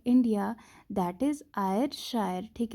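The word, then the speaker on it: Ayrshire: है India, that is आयरशायर, ठीक है ना। वी कैन प्रोनाउंस इट किसी भी तरीके से, ठीक है ना। AY आयर, SHIRE शायर, ठीक है ना।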